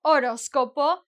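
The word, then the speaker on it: horóscopo: Silent H. Oroscopo.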